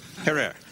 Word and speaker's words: Herer: Have I pronounced it correctly, Jack? Herer.